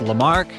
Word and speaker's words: Lamarck: local hikers and they're telling us it's actually pronounced lamarck which makes a lot of sense so that's